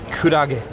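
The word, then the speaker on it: くらげ: Alright, so our first answer is jellyfish, which of course in Japanese you pronounce kurage.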